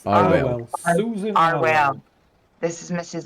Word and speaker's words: Arwell: I keep saying her name wrong anyway. What is it? It's Arwell.